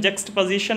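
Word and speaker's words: juxtaposition: इसका pronunciation जक्स्ट पोजिशन होता है।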